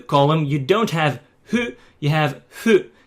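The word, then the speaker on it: ふ: It's hu, hu. It's not h or something like that. It's hu. Some people actually just pronounce it as a fu completely, and that's completely fine.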